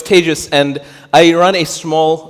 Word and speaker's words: Tejas: My name is TEJAS. That's pronounced like contagious. I know it's Spain, and we think it's TEJAS. It's not. I am not roof tiles. I've been confused for roof tiles, but it's TEJAS, and I run a